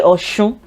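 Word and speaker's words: Ọ̀ṣun: But people say oshun, oshun as well. So let's use that for the example sentence. Shun is the same meaning, but I find that people that are really from Oshogbo don't say Osun. They don't say Oshun. They tend to say Osh. They don't say in general, they just don't say the she, this alphabet. They use C instead.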